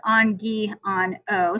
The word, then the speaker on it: Angiano: my name is coach angiano um it's pronounced on ghee on o so i wrote that